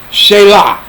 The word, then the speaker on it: Shayla: Shayla. That's how you pronounce. That's how it's pronounced. Shayla.